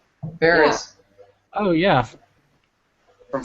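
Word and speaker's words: Faris: Am I saying her name wrong? Yeah. it's Ferris? Ferris.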